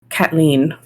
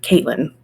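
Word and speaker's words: Caitlín: I will say in Ireland they would say Kathleen instead of Caitlin.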